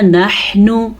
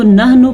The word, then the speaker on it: نحن: یاد کر لیں۔ یقولون نحن، حا کے تلفظ کا خاص دھیان دینا ہے۔ اکثر لوگ اس کو نحنو پڑھتے ہیں، وہ غلط پڑھتے ہیں، ایسے معنی غلط